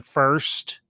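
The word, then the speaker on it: Furst: set designer Anton the first or first I can't I think that first is how his last name is pronounced you look at pictures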